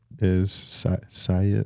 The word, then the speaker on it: Syatt: just listening to a podcast with, Jordan Syatt Syatt, I think is how yes. you pronounce his name.